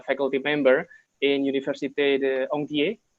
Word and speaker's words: Ontinyent: he is a faculty member in Université de Ontinyent, right? Am I pronouncing it right? Okay. Ontinyent, that's right.